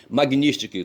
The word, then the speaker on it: Magnitsky: A Magnitsky, Magnitsky, Magno, para não esquecer a palavra Magnitsky, eu pensei Magno, pronuncio Magni e coloco sticky, Magnitsky, tá certo?